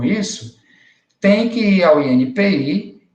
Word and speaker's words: INPI: parágrafo dessa letra E, que a pronúncia não é INPE, tá, pessoal? Não é INPE. Eu já ouvi várias pessoas pronunciando o nome desse órgão, chamando de INPE. Não é INPE, é INPI, Instituto Nacional da Propriedade Industrial.